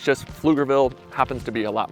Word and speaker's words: Pflugerville: There's like they really play up the the Flugerville. So, you've probably already noticed Flugerville is spelled with a a PF.